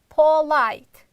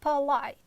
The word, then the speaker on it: polite: sound let's say examples most students pronounce it like Paul light it's wrong you should pronounce like polite a light you see a sound not o sound but light again the first syllable is unstressed therefore we are reducing it but light next one